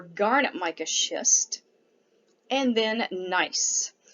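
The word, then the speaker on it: gneiss: mica schist and then nice g n e i s s the g is silent so nice is also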